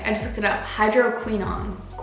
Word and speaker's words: hydroquinone: Hydroquinone.